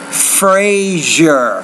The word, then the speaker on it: Frasier: no having trouble here it's that second sound measure Frasier Frazier Egypt Legion lesion listen